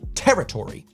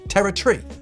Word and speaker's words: territory: just a little bit in the states we would say territory you know four syllables whereas a Brit mashes it more into three territory just like the recent general election the Tory kind of disappears at the end it's kind of poetic if you think about it now it's just a tree territ tree versus territory you've got the Latin